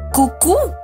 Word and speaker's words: Cucu: fasas se pronuncia cui Claro que no se pronuncia chicas nunca llamaremos fma hay que decir bien el nombre chicas en serio no es cqui ni Cuqui es cucu hagámoslo fantasma en la escuela